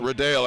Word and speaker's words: Riddall: I am familiar with Matthew Riddell, I'm seeing is the correct pronunciation.